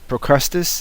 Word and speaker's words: Procrustes: But I gotta tell you, if you guys haven't seen Yuka's video on Procrustes, did I say it right?